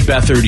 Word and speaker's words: Beathard: And then the guy says Beathard.